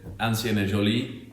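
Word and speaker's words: Ancien et Jolie: And I'm going to leave you for to tell you his business, the right pronunciation, and where it is. Yeah. So We're Ancien et Joly, and we're trading out of 70 de Beauvoir, which is in Haggerston in Hackney.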